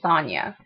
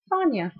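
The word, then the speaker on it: Sonya: they have to tell the world how to pronounce it I can tell you my name is Sonia Sonia s o n y a Sonia I can tell you honestly that outside of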